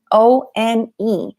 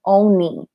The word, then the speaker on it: one: O-N-E. I find some of my students say oni, but it's actually the same pronunciation as the homophone, one, W-O-N.